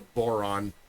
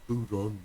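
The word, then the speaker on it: bodhrán: And then Paul taught me how to play the boron, the bon. The boron, depending on where in Ireland you're from, they pronounce it a different way.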